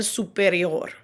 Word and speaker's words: superior: Notice that when pronouncing those Spanish words that end in OR, there's a little bit of a rolled R sound at the end. It's very subtle. El superior. Okay, so it's subtle, but it is there.